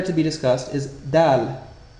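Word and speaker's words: دال: The first letter to be discussed is dal. This consonant letter is pronounced very crisply and similar to a frontal d in English.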